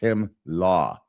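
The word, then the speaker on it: חמלה: The Hebrew word for compassion is himla or hemla, pronounced hemlah. Who's talking?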